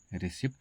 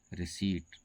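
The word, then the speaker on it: receipt: अक्सर लोग इसे रिसीप्ट कहते हैं। है ना? जो कि बिल्कुल गलत है। इसका सही उच्चारण होता है रिसीव। इसका सही उच्चारण है रिसीट।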